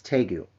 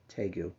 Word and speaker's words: Tagoe: Now, if you're wondering how you say his name, it's Tagoe. I've watched every interview. He pronounces his own name, Tagoe.